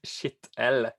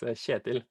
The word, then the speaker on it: Kjetil: So as long as you don't call it Kjetil, it's like it's Kjetil.